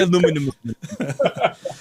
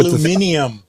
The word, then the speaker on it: aluminium: When the British say aluminium, they have to add another letter to that, don't they? They have a letter in the spelling that we don't have, isn't that right?